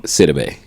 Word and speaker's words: Sidibe: How you pronounce her last name? Sidibe.